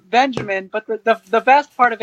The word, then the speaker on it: Benjamin: growing up she would call me Benjamin it's pronounced Benjamin but the best part of it is that